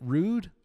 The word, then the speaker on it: Ruud: them nowadays is it rude or Ruud what's that well how do you pronounce it some people say rude and some people say Ruud all right well rude